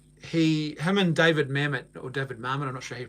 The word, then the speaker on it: David Mamet: of his name he Herman David Mamet or David Mamet and I'll show you pronounced they always get that name wrong David Mamet David Mamet they head up but they often